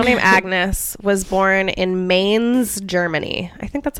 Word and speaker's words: Mainz: but a girl named Agnes was born in Mainz, Germany. I think that's how you say it. Mainz, Mainz, M-A-I-N-Z.